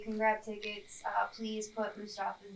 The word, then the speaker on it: Mustapha: 21-year-old Mufasa.